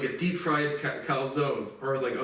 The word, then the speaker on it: calzone: So now we have a Puerto Rican teaching me Italian, and I speak both, and it's just like definitely calzone. But again, you pronounce an Italian last name correctly, my goodness,